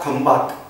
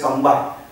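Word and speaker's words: Khambhat: Then at Lothal, Lothal is there in Gujarat, near Gulf of Khambat, that is English we are pronouncing as Kambai.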